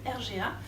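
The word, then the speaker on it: RGAA: fusée numérique qui s'appelle le r ga ça s'écrit rg aaa et ça veut dire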